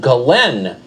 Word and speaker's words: Ghislaine: Her name apparently is pronounced Ghislaine Maxwell, spelled Ghislaine.